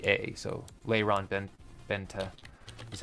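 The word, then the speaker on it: Lyron Benta: n and then b n t a so Lon Ben Benta that's how it's pronounced um Florian he has a dossier on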